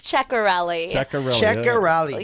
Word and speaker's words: Cerelli: say your last name how did we say your last name Rose you said it right it's cerelli yes it's easier said than the way that it looks but I completely understand